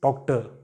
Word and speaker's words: Tochter: Daughter is Tochter. Tochter. You don't pronounce this letter R.